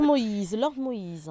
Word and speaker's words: Moïse: Monsieur Lord Moïse, j'ai bien prononcé votre nom? Exactement, très bien.